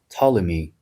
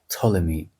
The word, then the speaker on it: Ptolemy: But in English, you pronounce the name of the king as Ptolemy because it's PT and it's like Ptolemy.